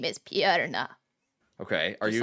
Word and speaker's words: Purna: pretty good yeah how does he pronounce it purena he says piranha so is he scottish like meredith no oh let's see he sounds like this my name is piarna okay are you like that are you also